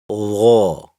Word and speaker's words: ظ: The back of the tongue lifts upward during its pronunciation. So while saying it, let the tongue rise from the back. This gives it the heavy sound.